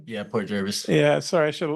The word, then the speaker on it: Port Jervis: Port Jervis am I saying it right yeah Port Jervis yeah sorry I should have looked at but